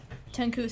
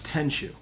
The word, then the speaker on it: Tenchu: Oh, Tenku Stealth Assassins?